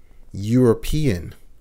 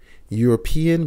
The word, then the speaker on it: European: and here and i examples for the consonants are hotel a hotel european european begins with a vowel e but the sound is a y sound a european unit unit